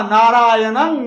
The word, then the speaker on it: नारायणं: न बताएगा, नरं चैवा नारायणं नरोत्तमम, वहां तो म लिखा हुआ है, लेकिन नारायणं में तो अनुस्वार है, वहां णं कहना पड़ेगा, न कहना पड़ेगा।